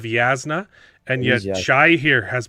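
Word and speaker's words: Jasnah: okay he keeps correct he keeps correcting me for saying jasna instead of yasna and yet Shai here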